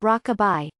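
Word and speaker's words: Rocabi: and his new company broke a be pronounced Rockabye by June of 2017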